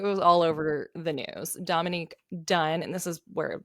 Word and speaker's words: Dominique: Dominique is a woman is a girl. Oh, Dominique. You're right. I'm saying it wrong. I'm saying is Dominic.